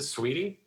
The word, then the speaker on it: Saweetie: beautiful what's her name is it sweetie uh yeah uh spelled right okay it's spelt weird it's like that's how